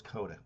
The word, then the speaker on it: Kodaka: Kobako? Is it Kobako or Kodaka? They nickname him Taka. But anyways, um Kodaka. Yeah, there we go. It's Kodaka. That's how you pronounce it, Kodaka.